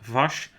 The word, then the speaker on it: Vas: actually mispronouncing kata blanca vast as it isn't vas we should pronounce so coming to the outsiders i was going to mention vash and um maybe the